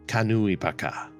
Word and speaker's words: Kanui Paka: Yes, although the pronunciation is not quite right. Every syllable is very enunciated. Kanui Paka.